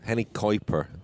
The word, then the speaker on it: Henny Kuiper: really great that was henny kuiper henny kuiper is seems to be the correct pronunciation which i think you're nailing there francois it was nice to